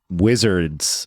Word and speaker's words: WZRDS: So it is WZRDS. Correct. Basically, no vowels. Wizards without vowels.